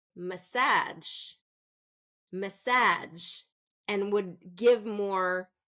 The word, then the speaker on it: massage: if I say so first syllable stress is message if I say second syllable stress massage massage okay message massage so